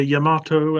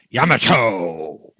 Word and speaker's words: Yamato: yes the USS photo you say Yamato and I say Yamato and the Japanese say the Yamato yeah because all syllables in Japanese are the same length they are indeed with